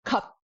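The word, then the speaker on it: ཁབ: Terminal consonants are terminal. That means the sound is done. Your mouth is shut. No more air is coming out. So the first word we have, cup, means needle. Cup, done. Not cup, cup, done.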